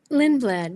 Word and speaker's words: Lindblad: Is that how you pronounce it? Lindblad, yes.